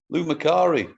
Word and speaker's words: Lou Macari: So as you said, without the social media, the likes of Daniel Craig, Nicole Kidman, and how do you pronounce that guy's name? Lou Macari? Lou Macari, yeah, you have to have a look back.